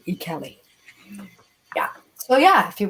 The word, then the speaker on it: Ikeli: Ikale, it looks like, but it's pronounced Ikeli.